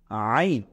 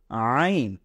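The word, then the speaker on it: عين: নেই এটাকে আমরা বলব আইন এটাকে আমরা বলব আইন এটা ভেতর থেকে চাপ দিয়ে পড়তে হয় আইন গলার ভেতর থেকে আনতে হয় এটাকে আমরা বলবো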